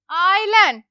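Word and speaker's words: island: Alright, तो first word is आइलैंड, again S silent है, आइलैंड। आइलैंड का मतलब होता है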